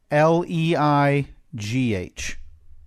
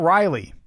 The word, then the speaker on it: Rayleigh: I spell it out for you. RAYLEIGH. RAY? Yeah. Rayleigh. Yeah. Not Riley.